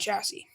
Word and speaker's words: chassis: these things you know it's Classy Chassis because the s is silence and Chassis but anyways let's not talk